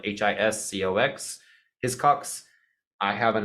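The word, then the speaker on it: Hiscox: requiring it right now I get mine from his Cox again I get no affiliate link no nothing I'm not gonna put it in there it's spelled h-i-s-c-o-x his Cox I have an additional Eno policy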